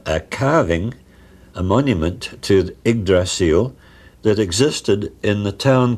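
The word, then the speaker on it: Yggdrasil: He first of all pointed out that ugdrasil is the old Saxon way of pronouncing eggdrasil and it doesn't mean ugly steed.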